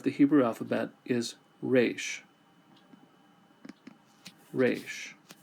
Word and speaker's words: resh: Resh sounds like the letter R. Now, in traditional pronunciation, uh it would have a rolled R, like rolled R. But, we don't do that. We just do the regular R.